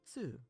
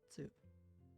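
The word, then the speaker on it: つ: The second exception is Tsu, which adds an S sound and is pronounced with less emphasis on the T. Tsu. Tsu.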